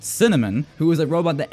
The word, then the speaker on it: CNMN: You have CNMN, pronounced Cinnamon, who is a robot that analyzes your team's behaviors, and you have the beefy macaron.